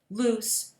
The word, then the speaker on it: loose: loose means not tight loose rhymes with moose but there's a similar